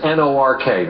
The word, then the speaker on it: Newark: Newark is 2 syllables when you come into the airport. If you're from around here, it's N-O-R-K, Nork.